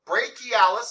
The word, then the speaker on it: brachialis: again okay uh question c-h-i is pronounced basically like k-k-e-y yeah so i can say it okay yep so brachialis say that great key